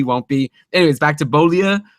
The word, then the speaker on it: Beaulieu: A guy who I know you made fun of me for mispronouncing his name before, but I've been practicing. Nathan Beaulieu is producing again, and he's back on the